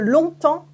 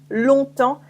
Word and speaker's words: longtemps: For example, longtemps, a long time, longtemps, I know can be tricky because there are lots of silent letters.